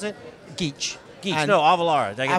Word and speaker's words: Geach: How do you pronounce it? Geach.